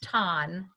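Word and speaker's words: Thanh: is spelled than1 with a T so it's pronounced ton but it's th a NH look up his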